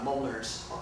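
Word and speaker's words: Mjölnir: called a Mjolnir, and it's spelled very weird. It doesn't. It's not phonetic. It's Mjolnir, and it's a reference to Norse mythology.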